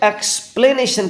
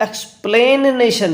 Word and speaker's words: explanation: जब एक्सप्लेन की स्पेलिंग लिखी जाएगी तो वहाँ पर AI आएगा, लेकिन जब एक्सप्लेनेशन की बात आएगी तो वो एक्सप्लेनेशन नहीं एक्सप्लानेशन हो जाएगा। क्या हो जाएगा दोस्तों? एक्सप्लानेशन। ये ध्यान रखिएगा, एक्सप्लेनेशन EXPLANATION। एक्सप्लेनेशन को याद रखेंगे एक्सप्लानेशन से।